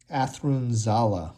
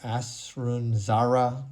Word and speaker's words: Athrun Zala: Athrun Zala or Athrun Zara. There are a lot of different pronunciations for this character, but a really unique, interesting, and complicated character, and one I'm excited to paint.